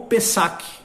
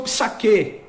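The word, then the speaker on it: Pessach: soa como o sachê ou pezak fez aqui é a pronúncia mais certa alguns pronunciam fiz aqui mas pessoas aqui seria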